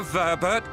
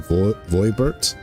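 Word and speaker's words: Voeburt: A Verbert gold piece, no less. The first I've held in years. See, yep. See, that's... I guess they could pronounce it Verbert. I was always pronounce it Voibert.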